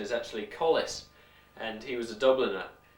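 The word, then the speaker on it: Colles: or just just does it describe the anatomy Collies is named after a man I understand the correct pronunciation is actually Collis and he was a Dubliner as was Smith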